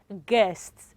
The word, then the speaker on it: guest: so used to um the way it's been pronounced right okay so for the first one g-u-e-s-t it is what guests okay g-o-i-t-a-r is what guitar is what children